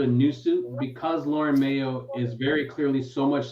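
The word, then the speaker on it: Mayeaux: Is it Mayo or Mayu? I think it's Mayo. The X is silent? M-A-Y-E-A-U-X. there's an X. Yeah, on the end.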